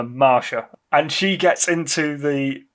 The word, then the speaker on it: Masha: this character is yeah it's spelled m-a-s-h-a which sounds like Masha to me but hmm I'm calling her Marsha and she gets into